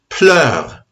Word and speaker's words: pleure: it's elle console T pleure, not très pleure. T close T pleure. Pleure does not rhyme with mêlé. It does not rhyme with enivré.